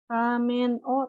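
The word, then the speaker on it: を: Kalau misalkan pakai romaji, misalkan ramen wo tabemas, tapi dibacanya itu ramen o tabemas. Biasanya romajinya ditulisnya wo gitu ya, wo. Tapi dibacanya itu o biasa kayak gitu.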